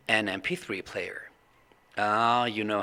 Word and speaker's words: MP3: when you pronounce it MP3 player the first sound that comes out of your mouth is not the M it's m it's like the e in front of the M it's an MP3 player